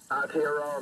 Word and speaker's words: Aotearoa: Aotearoa, mate.